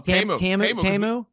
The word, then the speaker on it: Temu: Oh, Temu.